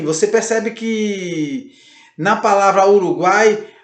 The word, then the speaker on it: Uruguai: Por exemplo, na palavra Uruguai. Percebam, Uruguai, guai. Você percebe que começa com um mais discreto, passa para um A mais aberto, mais forte, mais presente e volta para um I mais discreto.